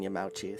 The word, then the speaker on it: Yamauchi: i honestly just think that yeah the standard pronunciation would have been yamauchi so that's what i'm sticking with uh to